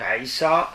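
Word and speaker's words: عيسى: du corps d'abord un homme nommé haïssent donc aïssa ça s'écrit une apostrophe y est ça la première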